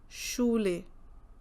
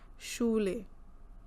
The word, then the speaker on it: Schule: SCH as again Sh, Schule, Schule.